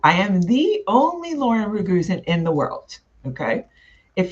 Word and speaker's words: Raguzin: And in Croatia, the last name is actually pronounced Raguzin.